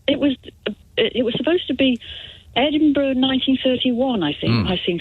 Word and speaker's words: Edinburgh: Pronounced Edinburgh.